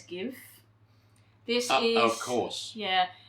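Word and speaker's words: GXVE: number 36 and look i'm pretty sure it's pronounced as give this is of course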